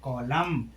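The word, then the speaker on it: column: आखिरी अक्षर एन हो और उसके पहले एम आया हो तो एन का उच्चारण नहीं होता है। जैसे कॉलम अब देखो यहां पर आखरी अक्षर क्या है?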